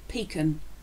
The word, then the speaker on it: pecan: Sometimes I absolutely love the way people pronounce this. P-E-C-A-N, pecan, pecan nut, pecan, pecan, no, but I think it's brilliant how people say it, but it's pecan.